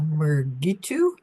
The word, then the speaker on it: Meritu: Um, uh, Meritu. Is that how you pronounce? Yes, you said it right.